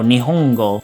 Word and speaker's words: Nihongo: So it's pronounced n, so Nihongo.